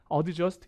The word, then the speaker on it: adjust: adjust가 아니라 실제 발음은 adjust, 이렇게 되죠. adjust. adjust, 끝자음 T가 되게 약해요.